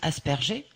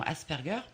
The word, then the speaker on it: Asperger: Certains le prononcent Asperger, mais c'est vraiment Asperger.